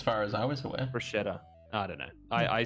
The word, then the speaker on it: bruschetta: So we got some sick cherry tomatoes as well, and then some local cured meat as well, and made some bruschetta, and it was like chef's kiss.